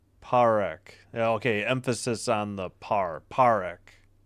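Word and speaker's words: Parekh: P A R E K Z parak. Okay. Emphasis on the parak. It's not par. Parek. Got it.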